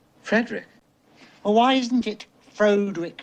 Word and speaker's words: Frederick: no it's pronounced frankenstein do you also say frodrick no frederick well why isn't it